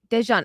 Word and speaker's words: Dejan: Okay, so why would you pronounce that J different? Well, the thing is, I know because I had an instructor whose name was Dejan, and he said that's how you pronounce. Interesting. Okay, so maybe when a J is in between letters, it's pronounced a little bit different than if it's like Jokic.